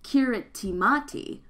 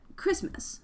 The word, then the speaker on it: Kiritimati: the native Carabosse language the TI makes an S sound so it's not pronounced a kiritimati but Christmas the name stuck oh